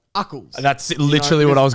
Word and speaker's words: Ucles: I say Ucles. I thought you used to say useless.